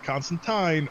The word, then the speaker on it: Constantine: in the goddamn comics constantine rhymes with fine it's in hellblazer dc